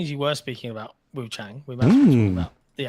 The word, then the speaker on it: Wuchang: In the game, her name is Wuchang. Every time they say her name in English, Japanese, Chinese, whatever you got it set to, they say Wuchang, which is why I